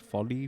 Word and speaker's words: Foley: that's what you said Folly Folly is that the correct way of pronouncing it yes okay so if anybody